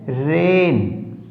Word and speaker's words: reign: Rule number 7, GN में G silent रहता है। जिस भी स्पेलिंग के अंदर GN आ गया वहां पर G साइलेंट रहेगा, G का उच्चारण नहीं होगा। जैसे REIGN रेन, SIGN साइन, GNAT नेट।